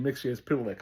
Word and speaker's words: Mxyzptlk: Mixia is Pitilik.